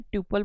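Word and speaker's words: tuple: सो टपल इसको हम pronunciation टपल बोलते हैं। ट्यूपल बोलते हैं। आपको जैसे प्रोनाउंस करना है।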